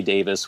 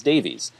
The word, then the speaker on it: Davies: mind that not everyone I didn't know that Ray Davis was pronounced Davis until I was probably like in my mid-20s so through most of my high school years when I was listening to The Kinks I thought it was Davies and then I did finally find out that it was pronounced Davis or at least people in the UK say Davis so I'm not going